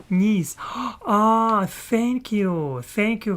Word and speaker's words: Nice: coin in his um pack yes uh nice pronounced knes ah thank you thank you Heather thank you